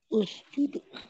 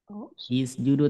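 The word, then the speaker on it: اسجدوا: huruf jel maka disamain Jadi Us judu ya jangan sampai is is judu tapi usjudu samain dengan huruf ketiga gitu ya berikutnya misal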